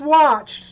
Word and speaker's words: watched: So visited adds a syllable. So we're going to circle number 2. Number 3 is watched.